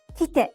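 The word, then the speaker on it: きて: Kite means come and is pronounced in 2 syllables.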